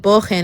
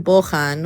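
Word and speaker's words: בוחן: So I said bochen instead of bochan, which is a quiz, and mivchan is a test.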